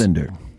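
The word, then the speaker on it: Wilander: I always knew cuz it's spelled with a W, but I always remember it's a V.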